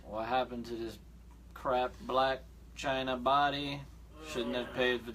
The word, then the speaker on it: Blac Chyna: Is that how it's pronounced? That's how you say it. Blac Chyna.